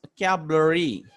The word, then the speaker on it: vocabulary: The word vocabulary has 5 syllables. Okay, vocabulary. Okay, 5 syllables, and it should be pronounced like this: vocabulary.